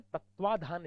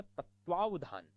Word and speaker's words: तत्वावधान: क्या है श्रेयस कर एक लोग बोलते तत्वाधान शब्द तत्वाधान उसके तत्वाधान में कार्य क्रम हुआ बड़ा गलत बोलते यह होता तत्वावधान तत्वावधान होता है स्वालंबन स्वालंबन नहीं स्वधन